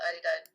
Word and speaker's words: Adidas: second what's going on adidas which they call adidas in germany americanized the pronunciation that's i did not